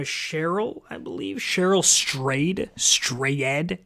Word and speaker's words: Strayed: Cheryl Strayed. Strayed. It's spelled strayed, like you stray, but with past tense.